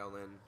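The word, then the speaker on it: Xiaolian: Yeah, Yaolin. There we go. Yeah. Yaolin. X is silent.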